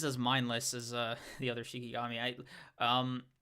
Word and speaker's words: Shikigami: I don't think he's as mindless as the other Shikigami. Shinigami, like Shikigami. No, I said it right the first time.